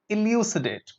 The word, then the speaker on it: elucidate: Okay, elucidate. Elucidate. Look at the pronunciation. Elucidate. Elucidate. Not elucidate, it's E. Elucidate.